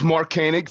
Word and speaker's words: Mark Koenig: from there all right well my name is Mark Koenig thank you for pronouncing it right uh you know there's a